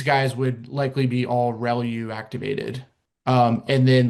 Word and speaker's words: ReLU: The the way you pronounce this is called relu. So relu re lu.